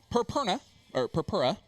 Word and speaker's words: Purpura: But over here, we got the great matchup between Dan Purpura, which is cat sound, is how he described it to me.